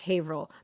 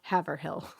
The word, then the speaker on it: Haverhill: Oh, and please explain to the non-New Englanders that Haverhill is pronounced Haverhill, not Haverhill.